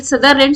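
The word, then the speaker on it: Sutherland: तो ये भी हाल ही में जीत लिया है एनाबेल सदरलैंड। सुदरलैंड भी कई जगह आपको दिखाई देगा, ये इंग्लिश में इनका प्रोनाउंसिएशन है ना।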